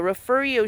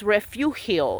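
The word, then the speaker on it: Refugio: And the sheriff, the refurio sheriff's department, refurio, because they don't know how to pronounce it properly, so they pronounce it the way they want to, the white way. It's refuilio. It's not refurio.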